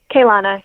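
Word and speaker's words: Keilana: Emily Templewood, al also known as do do you do you pronounce it Kylana or Kana? K Kana.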